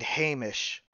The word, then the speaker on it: Hamish: the human rogue and Hamish the Dwarven cleric who is very particular about his name pronunciation and we'll remind you that the age is not silent he's very he's very